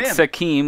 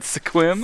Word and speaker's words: Sequim: It's not Sequim like Not- it's spelled, even though it's but Sequim.